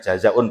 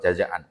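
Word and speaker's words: جزاءٌ: Karena Rasulullah bersabda dalam salah satu hadisnya terkenal, Al-hajjul mabruru laisa lahu jazaun illal jannah. Al-hajjul mabruru, haji yang mabrur itu laisa lahu jazaun, dibacanya jazaun Pak, bukan jazaan.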